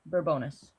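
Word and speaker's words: Bourbonnais: Is that how you pronounce it? Burbonus.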